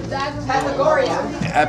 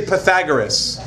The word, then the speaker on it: Pythagoras: Pythagoria. Pythagoria? When you say his name, it's actually Pythagoras.